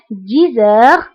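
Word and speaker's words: dix heures: دائما انتبهوا للنطق 10 heures. هنا أيضا قمنا بلا liaison entre X et H.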